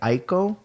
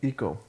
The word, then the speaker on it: Ico: He was inspired by artists and by Ico. You remember that game? Eco. Eco. My bad. The Mispronounced.